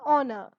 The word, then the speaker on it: honor: an honest man, an honor. You will not say an hour, an hair, an honest man or an honor. Instead of that, H is silent over here. You start with the vowel sound.